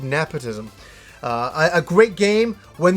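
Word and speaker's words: Napishtim: uh Arc of nepotism nepotism there's a lot of different people pronounce it a lot of different ways I've always pronounced it the Arc of nepotism uh a great game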